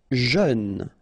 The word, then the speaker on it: jeune: Jeune. Final E not pronounced, but then EU together.